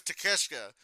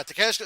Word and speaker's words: Takeshita: His name is Takeshita, but his last name is spelled Take a Shit.